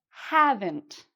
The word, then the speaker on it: haven't: "Haven't". So, again, we have that "ent" sound at the end, and "have" is said louder and longer.